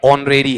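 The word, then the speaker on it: honorary: वहां पर होरेरी है या ऑनरेरी है? एच क्या रहेगा? साइलेंट रहेगा।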